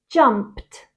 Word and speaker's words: jumped: of these verbs and pronounce the Ed as a t sound number one jump becomes jumped jumped I'm going to